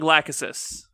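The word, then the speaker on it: Lachesis: How are you wanting us to pronounce? I've been going Lákhesis.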